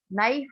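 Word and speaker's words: knife: नाइफ, नाइफ में नाइफ नहीं पढ़ते, बल्कि इसको नाइफ बोलते हैं, तो के लेटर क्या हो गया इसमें, साइलेंट हो गया।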